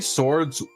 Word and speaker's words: swords: you're looking for a swords and swashbuckling campaign, season of Bodaria is where it's at. Now, if only they make minis. Roll that back. Did you just say swords pronouncing the W?